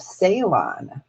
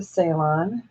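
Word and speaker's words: Ceylon: So there's the salon. And that's spelled with a C. C E Y L O N.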